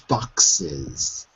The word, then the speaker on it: boxes: Lavish boxes. Lavish boxes. Boxes. With a Z, like zebra.